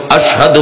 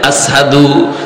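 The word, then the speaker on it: أشهد: আশহাদু বলতে পারতেন না। বলতেন আসহাদু। সিন উচ্চারণ করতে পারতেন না।শিনটা ভালো করে উচ্চারণ হতো না।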